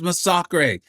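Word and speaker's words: Masacre: Yes, it is pronounced masak.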